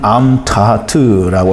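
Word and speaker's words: אמתחת: 그 발음은 암타하트라고 하는데요.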